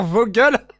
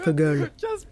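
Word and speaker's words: Vögel: google tu t'appelles casper vos gueules ça se prononce vogele ça veut dire oiseaux en allemand pour ta gouverne hautement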